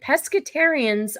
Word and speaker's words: pescatarian: don't know um no they don't eat chicken pescatarians are just fish oh don't tell me I've